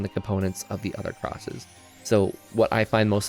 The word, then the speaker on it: Xros: So that every time you see that X, that's for cross. I used to pronounce it Xros, not because I thought that's how it's pronounced, but because I just liked saying Xros. But if I was to do that all throughout this video, I would lose my mind. So I'm just sticking with cross in this case.